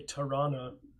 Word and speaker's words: Toronto: I was born in Toronto, but I don't say Tirana like Toronto natives do. I was pronounce the hard T in Toronto.